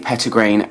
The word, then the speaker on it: petitgrain: It's the petitgrain I smell the most, or petit grain if you want to nitpick and make me pronounce it properly.